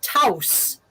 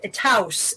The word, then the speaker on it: Taos: Well, but then what makes it even worse is that there is a pueblo in the Southwest that is pronounced Taos, and House. Taos, and it has always been spelled Taos.